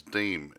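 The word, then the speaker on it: Demme: uh directed by jonathan i think it's deem d e double m e uh donald trump's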